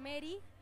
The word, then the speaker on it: Meri: Mis redes sociales son Mary, con E y con I latina, que se escribe, D-E-A-L.